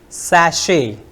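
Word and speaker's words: sachet: s a c h e t which is pronounced sash sash Sash and the last word I have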